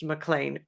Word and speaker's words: McLean: want to um clarify how her last name is spelled. It's Laura and Mlan is M C L E A N. So, we would maybe pronounce it man here, but it's pronounced MLAN uh properly pronounced MLAN.